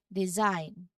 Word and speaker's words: design: Now, even though you see the G, it's completely silent, and the word ends with an N sound, design, with a buzzing sound also in the middle.